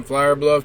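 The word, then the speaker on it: Flour Bluff: destination the koa in flower bluff texas side note flower bluff is spelled f-l-o-u-r like the flower you cook with this koa was a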